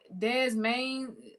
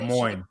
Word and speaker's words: Des Moines: Smaller cities like Boise like Boise and Des Main Des I don't know how to pronounce this Des Moines Des Moines. Oh Des Moines okay.